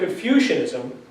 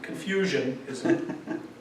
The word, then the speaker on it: Confucianism: So we have Confucianism, not confusionism but Confucianism.